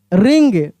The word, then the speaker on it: wring: तो टी भी साइलेंट है और W भी साइलेंट है। रेस्टल नहीं पढ़ेंगे, रेसल, रेसल, खूब ध्यान से समझिएगा, wrestle. रिंग, WRING, रिंग, रिंग, कपड़े को हम लोग निचोड़ते हैं, इसे पानी उसमें से निकालते हैं, रिंग।